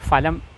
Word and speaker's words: ഫലം: അത് സ്ഥിരമാക്കി മാറ്റി അതുകൊണ്ടാണ് ഫലം എന്ന് പലരും പറയുന്നത് അപ്പോൾ ഫലമല്ല ഫലമാണ് പണമല്ല പണമാണ് ഫലിതമല്ല ഫലിതമാണ് താങ്ക്യൂ